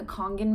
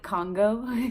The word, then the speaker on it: Kangen: So having a Kangen machine, that's spelled Kangen, a lot of people call it Congo, which I thought was actually kind of funny on my recent video.